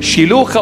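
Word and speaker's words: Shiloah: wash in that pond Shila Shila in the proper pronunciation Shila or Shila means the messenger it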